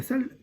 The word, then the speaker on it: Salle: Ça s'écrit pas pareil, Saint Jean-Baptiste de la Salle, c'est comme une salle, et SA2LE.